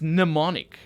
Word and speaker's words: mnemonic: It's spelled mnemonic, and the M is silent, so it's mnemonic.